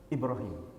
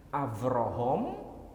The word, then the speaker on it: Ibrahim: sendiri ada disebutkan nama Ibrahim cuma dalam Alquran itu pelafalannya dua Ibrahim Ibrahim itu ada dalam qiroah orang Yahudi menyebutnya itu Abraham itu dialek Yaman kalau dialek Abraham Abraham ibraham Ibrahim